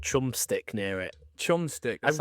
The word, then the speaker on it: Chumstick: What is it How do you pronounce that? Chumstick.